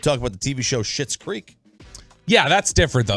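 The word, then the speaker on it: Schitt's Creek: about the TV show shit's creek yeah that's different though like that's spelled s-c-h-i-t-t I know but the sponge is the sound's the same that's true that's true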